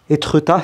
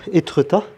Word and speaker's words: Étretat: Ouais, du coup dans cette ville, Étretat, ça se prononce comme ça, Étretat, il y a plein de mystères par rapport à Arsène Lupin.